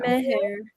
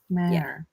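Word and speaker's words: Mehr: Meher. Oh, The Mare. audiobook pronounced the H. Mare. Well, I've been saying it wrong to myself, so there you go. Yeah, I was calling her Mare too.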